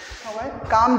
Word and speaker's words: calm: काम down लिखा हुआ है, काम डाउन, इसमें काम के अंदर में जो एल है ना ये साइलेंट है यानी म्यूट है, इसका कोई साउंड यहाँ पर नहीं आने वाला है।